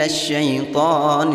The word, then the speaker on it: الشَّيْطَانُ: وَإِذْ زَيَّنَ لَهُمُ الشَّيْطَانُ أَعْمَالَهُمْ الشَّيْطَانُ. Perhatikan ada harokat berdiri panjang pada huruf ta. Hukum bacaan matabi'i, membacanya dipanjangkan bunyi ta-nya 2 harokat.